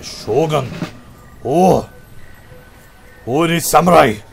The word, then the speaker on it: shogun: The shogun, you've got to say it right. It's like shogun.